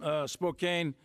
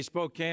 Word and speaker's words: Spokane: And a few other folks from Spokane. I say Spokane. I guess the proper way to say it is Spokane or something like that. That's the French way. But I say Spokane, Washington.